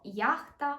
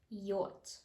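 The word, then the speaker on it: yacht: Наступне слово - це слово яхта. І колись дуже давно я також грішила тим, що читала це слово як яхт, але насправді воно читається як йод.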